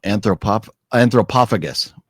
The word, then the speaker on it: Anthropophagus: Oh, anthropophagus. The ph is a f.